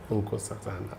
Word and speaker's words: Nkosazana: That's how I pronounce it. Correct. Ungo. Unco Satana.